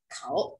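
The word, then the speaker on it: 口: Khẩu, từ này đọc là khẩu nhá.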